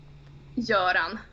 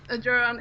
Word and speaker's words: Göran: That is not like, you don't pronounce that as an O.